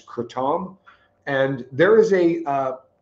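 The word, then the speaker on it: kratom: Some people call itratom, some people call it. The uh official pronunciation I believe after looking it up is cretam.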